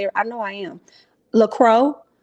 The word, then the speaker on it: LaCroix: LaCroix. I think it's LaCroix. CROIX. I think that's how you say it.